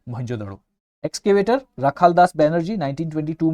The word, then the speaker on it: मोहनजोदड़ो: ठीक है, remember मोहनजोदड़ो, not Mohenjodaro.